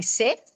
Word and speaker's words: Seth: Seth. Seth. Which Seth? The Egyptian Seth. S E T H. Yeah. But yeah. So set they pronounce it. That's where we get sunset from.